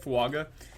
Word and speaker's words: Fuaga: we've seen enough and I think that Talis fuaga Talisa I believe is how you say it fuaga is a great I mean this is such